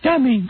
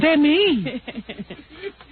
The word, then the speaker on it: Demi: My name isn't Dummy. It's Demi.